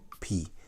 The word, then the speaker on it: kp: K, P together, pronounced is P. In Yoruba, you don't say pere, it's P. You don't say pele, it's pele. The P sound is that. The P in writing is still the alphabet P, but in pronunciation is KP pronounced together, which can be very tricky. It's like smacking your tongue up the roof of your mouth.